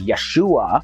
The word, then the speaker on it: Yeshua: probably unable to pronounce his hebrew name which was yahushua also pronounced as yeshua but when the name